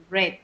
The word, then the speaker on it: read: En presente se dice read, en pasado se escribe igual, pero la pronunciación es read.